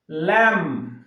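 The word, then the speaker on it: lamb: তাহলে এর উচ্চারণটা হবে কম। ল্যাম, থাম, থাম।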